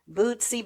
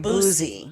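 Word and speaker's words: Boosie: You said Bootsy. I know, I said it wrong. Yeah, Boozy. I don't know these people. Now C. Boozy. Yeah, Boozy. But you're making it sound like it's C-E-E. It's S-I-E.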